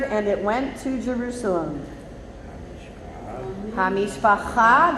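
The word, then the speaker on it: המשפחה: Hamishpacha, get your guttural on.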